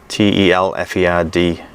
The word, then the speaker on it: Telford: It says it's pronounced Telford, Telferd, in case I was wondering.